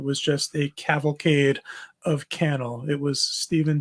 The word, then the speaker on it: Cannell: I think it's Cannell. I think it rhymes with panel. I've heard it pronounced both ways, but I heard him pronounce it Cannell.